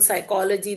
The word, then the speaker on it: psychology: For example, psychology the P is silent.